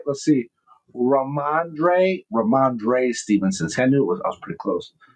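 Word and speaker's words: Rhamondre Stevenson: Ramondre Stevenson.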